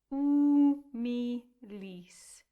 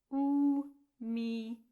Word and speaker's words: humilis: And then again, we get rid of the H. Umilis. 3 syllables for your next word. Silent H. Umilis.